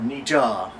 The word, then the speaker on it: Nietzsche: number two nii influence Nazi philosophy uh or Nija correct pronunciation I typically read The Works of N